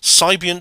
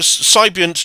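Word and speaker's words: Psybient: is a music genre the Sigh part of the word is pronounced the same as sigh in Psychology yeah sibian dreams all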